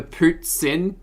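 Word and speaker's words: poutine: Oh, Lucas, the pootsin is the way it's spelled. Pootsin. Like a poot and then like a sin.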